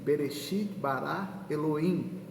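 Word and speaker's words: בְּרֵאשִׁית בָּרָא אֱלֹהִים: e o bacana que no hebraico esse versículo ele é pronunciado assim berechit bará Eloim Ah no princípio foram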